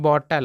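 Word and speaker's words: bottle: हैं बॉटल ध्यान दीजिएगा अगर किसी भी इंग्लिश शब्द के लास्ट में अगर ई रहता है तो अधिकतर ई साइलेंट होता है तो वहां पे जैसे कि एल ई है तो ले नहीं लिखेंगे चाहे ली नहीं लिखेंगे केवल एल लिखेंगे यानी केवल ल लिखेंगे तो इसको पढ़ेंगे बोतल और बोतल का मतलब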